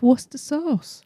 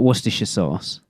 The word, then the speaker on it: Worcestershire sauce: The shire on the end is irrelevant. We don't pronounce most of the letters in it. Just Worcester. Worcester sauce. Simple as that. Not Worcestershire sauce.